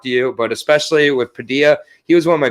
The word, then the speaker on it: Padilla: like how you think i like how you pronounce padilla you pronounce it like quesadilla you go padilla that's that canadian coming out of you man but it is padilla for the rest of us it is but you